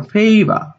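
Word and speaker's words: favour: সঠিক উচ্চারণ ফেইবা।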